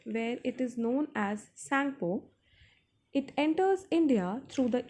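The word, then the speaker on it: Tsangpo: T is silent, children, so it is Sangpo.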